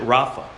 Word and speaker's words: Rapha: to heal it's the transliteration and we would pronounce it Rafa that's where we get Jehovah Rapha from the Lord my healer okay and so that word Rafa means to heal now when you break that